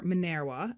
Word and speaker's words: Minerva: Minerva and illuminated Minerva Minerva Roman goddess of wisdom or manera as my Latin teacher would be yelling at me to pronounce it was the symbol of